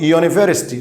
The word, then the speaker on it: university: عشان كده قلت يونيفرستي. لو انت خدت بالك ان انت نطقت اليو زي الواي اللي هو يه ساوند، فهنا الصوت ده يعتبر ساكن كونسونانت.